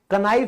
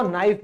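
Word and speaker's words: knife: तो चाकू नाइफ कनाइफ नहीं होगा। ठीक है? इसको नाइफ बोलेंगे।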